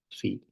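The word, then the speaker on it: phi: this angle Fe okay I think it's pronounced Fe not Theta we'll use Theta elsewhere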